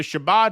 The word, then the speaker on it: Chabad: tomb of Rabbi Schneerson, the leader of the Chabad movement, who died in 1994. Yeah, I don't get the pronunciation right on those.